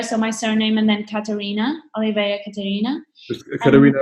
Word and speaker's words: Catarina: name at oliveira so my surname and then katarina oliveira caterina could we know it's a k